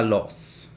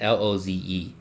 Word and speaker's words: Loze: The Col de la Luz. My bad. I meant to pronounce that. Loze.